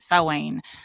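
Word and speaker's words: Samhain: heard of the word sa sa is a pagan uh celebration you probably heard it pronounced Sam Sam that's how they said Real Ghostbusters yeah it's sa and so sa is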